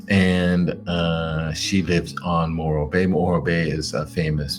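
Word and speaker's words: Morro Bay: And then after that is Mororrow Bay. Yeah. Did I pronounce it right? Moro Bay. Moro Bay. Yep.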